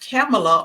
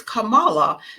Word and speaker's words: Kamala: I don't understand why everybody keeps calling her camela or C I think it's it's Camala so because they mispronounce it so often I end up mispronouncing it also but um her name is uh Camala Kamala Harris okay all right so um as we